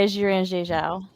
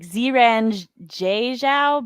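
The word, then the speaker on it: Xiran Zhao: Yes, it is the one by Jiren Zhao. And that's not actually how you say her name. It's like Ziran Zhao, but my voice and mouth no longer work.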